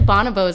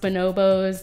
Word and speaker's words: bonobo: continued angry monkey sex actually Bona bows i guess or you may be pronounced bonobos different people with different preferences but potato potato the bonobos let's call